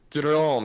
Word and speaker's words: Autodromo: Drome. You gotta pronounce that D. It's not Rome, it's Drome.